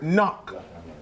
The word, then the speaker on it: knock: What is the silent letter in the word knock? K. K.